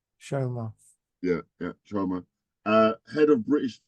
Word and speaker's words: Chioma: But Chioma, that's how she pronounced her name. Chioma.